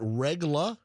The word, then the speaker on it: Regla: Uh am I pronouncing that right? Regula. Yeah. Wow. Exactly how it's spelled.